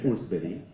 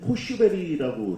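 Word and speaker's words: Forsberg: 그 에밀 포르스베리. 예. 그 선수가 원래는 포슈베리라고 현지에서 발음이 되는데 저희가 명단은 포르스베리라고 결국 해야 될 것 같습니다.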